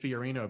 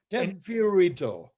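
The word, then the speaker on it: Fio Rito: career with the ted fiorino band still playing in high school well you got the pronunciation wrong sorry i put a different end on that fiorito now that ban was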